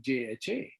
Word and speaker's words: Jha: last name is jha in spanish jay is silent so i remember very crystal clear in in newport beach mall they were saying you know so they announced for my ticket for food as mr and i i didn't